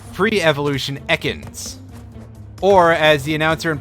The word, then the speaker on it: Ekans: is certainly a pokemon arbok in its pre-evolution ekans or as the announcer in pokemon stadium would call it eakins which was one of the big standout like differing pronunciation things in a pokemon medium for a